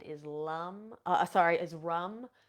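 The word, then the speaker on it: ram: the seed sound is Lum uh sorry is rum R A we pronounce it rum and then the heart is the color green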